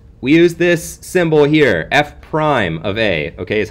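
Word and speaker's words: f′(a): some notation okay we use this symbol here F Prime of a okay is how you say it f Prime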